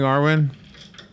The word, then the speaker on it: Arwen: Good morning, Arwen. Hi, guys. And yes, you're pronouncing my name correctly.